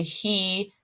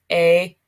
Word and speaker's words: he: It's pronounced e, as, a, hemos, han. Remember, H's are silent in Spanish.